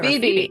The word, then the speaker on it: Phoebe: How do you spell that? F-E-E-B-E-E? Phoebe. Yes, it's like the character from Friends, and they're lovely.